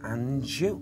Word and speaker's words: Anjou: How do I pronounce that? Margaret, it sounds like Margaret and Anjou.